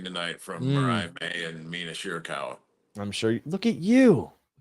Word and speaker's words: Mina Shirakawa: Like the dance routine tonight from Mariah May and Mina Shirakawa. I'm sure. Look at you pronouncing that correctly too.